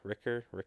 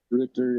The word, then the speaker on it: Richter: Is it Richter? Ricker? Is that how you pronounce it? Richter, yeah.